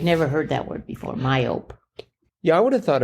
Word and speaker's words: myope: myop like but no it turned out to be myop with silent e at the end but uh yeah I'd never heard that word before myope yeah I would have